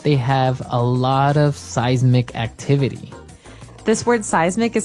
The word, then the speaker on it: seismic: affect us okay so that's seismic activity it's pronounced seismic right seismic seismic okay and uh because of all this activity